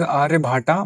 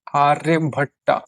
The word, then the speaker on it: आर्यभट: This is written as आर्य भाटा बट it will be pronounced as आर्यभट्टा।